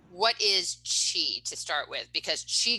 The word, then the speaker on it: qi: character right in the the roman alphabet she is spelled q-i right what is chi to start with because chi gong and tai